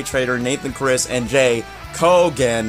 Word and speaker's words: Kogan: nathan chris and jay kogan not coo again i'm sorry for my